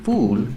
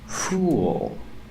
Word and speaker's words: fool: he pronounce is full use the dark L at the end link The Sounds ooh with the dark dark L it makes an extra sound listen fool fool uh